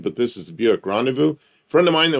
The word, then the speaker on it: Rendezvous: Well, it's a rendezvous is how you pronounce that word. What? Well, that's a French word. In what language? It's not pronounced Rendezvous. It is in English.